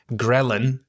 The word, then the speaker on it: ghrelin: Ghrelin has a silent H in it, Ghrelin.